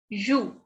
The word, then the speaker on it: joue: Next is joue. Joue. E, as I told you, E, whenever E is at the end, we don't pronounce this. So this is joue.